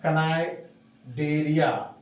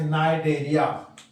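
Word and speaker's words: Cnidaria: Coelenterata का नाम आजकल बदल गया है, लिखते हैं कनाइडेरिया, पढ़ते हैं नाइडेरिया। नीडोसिल नामक एक स्पाइन होता है, कांटा होता है, कनिडोसिल लिख रहे हैं, सी साइलेंट, तो उसी निडोसिल से नाइडेरिया नाम पड़ा।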